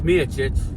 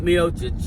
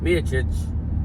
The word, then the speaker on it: Miocic: He already said before tonight's fight that the winner between John Jones and Stipe Miocic, yes, Miocic, not Miocic, Miocic, that's how you pronounce it, has to fight Tom Aspinall.